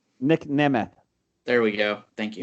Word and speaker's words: Nemeth: I'll do that only if you learn how to pronounce his name correctly. Nick Nemeth.